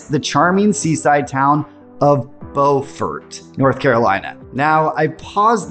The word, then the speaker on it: Beaufort: Now, I paused there because there's another town in South Carolina with the exact same spelling that's pronounced totally differently, Buford, and I always get them mixed up.